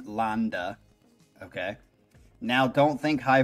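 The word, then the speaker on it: Lande: the vocals performed by jorn land pronounced jorn Landa okay now don't think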